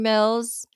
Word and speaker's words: Mills: Power my name is Mills it rhymes with bills you know the one